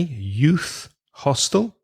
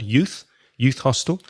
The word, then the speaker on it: youth hostel: Albergue juvenil is youth hostel. Quite difficult to say. Youth hostel. Stress the first word. Sorry. Stress the first word. Youth hostel.